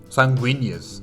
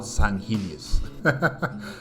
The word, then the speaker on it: Sanguinius: name the angel guy sanguinius sanguinius yes not sanus but yes sanguinius yes and you know